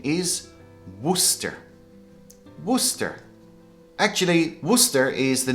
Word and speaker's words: Worcester: This is pronounced as Worcester. Worcester. But when you look at the spelling, it doesn't look like it, does it? So people make the mistake, they pronounce this Worcester.